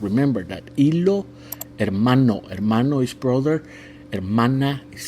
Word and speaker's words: hermano: him haa hamong and the H in Spanish has no sound remember that iloo hermano is brother and Mana